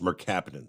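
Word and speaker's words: mercaptan: okay hydrogen sulf and yeah that that's it's pronounced Merc capin okay that's it yeah that's so they said it smelled like rotten eggs yep yep that's as I say merap is what the agent is that he used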